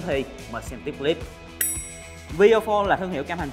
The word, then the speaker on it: Viofo: A119 Mini 2, nhưng đọc là VO4 chứ không phải là V-Phone nha.